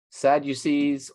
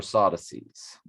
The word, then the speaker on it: Sadducees: the dead because the they either call them sadducees or sodases it's pronounced that way in both directions sadducees because they're sad